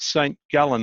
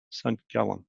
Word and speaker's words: St. Gallen: St. Gallen, I understand. If I said that right, probably too Australian. How do you say that in Swiss? St. Gallen. St. Gallen.